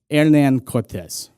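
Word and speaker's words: Hernán Cortés: a man by the name of Ernan Cortez. I'm just going to call him Hernand Cortez. I just want to at least get it, you know, get in there once how you're supposed to pronounce it, I think.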